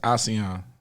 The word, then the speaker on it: Ausee: he says say Aussie so to pronounce it's Aussie like Australian or like well my name is asean so and asean came